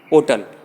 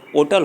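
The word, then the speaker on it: hotel: Example देखते हैं, एन होटल, इसको होटल न पढ़कर इसका करेक्ट प्रोनाउंसिएशन ओटल होता है, तो एच की आवाज़ यहाँ पर हा न निकलकर स्वर की तरह निकल रही है, आ से आहा के बीच में निकल रही है, ओटल।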